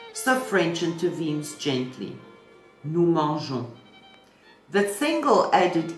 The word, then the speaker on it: mangeons: In French pronunciation, G before A or O produces a hard sound like in go. But manger carries a soft G like the J in je. To preserve that softness, an extra E is inserted ensuring